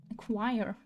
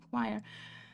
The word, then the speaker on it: choir: What you were trying to tell me like that is exactly what she was pronouncing. Damn. Okay. Choir. Choir.